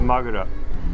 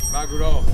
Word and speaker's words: maguro: A magura. Magura? Is that a type of fish? I don't know. Maguro? Maguro. Very good.